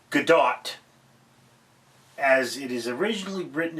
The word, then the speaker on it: Godot: It's not Godot, as it is originally written in French, but translated to English, it's Godot. The T is silent because French.